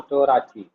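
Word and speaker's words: תּוֹרָתִי: Okay, so Torati. So, in Torati, to is one syllable, ra is another syllable, ti is another syllable.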